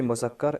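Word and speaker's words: مذكر: Dans la langue ourdou, on dit muzakkar et muannas.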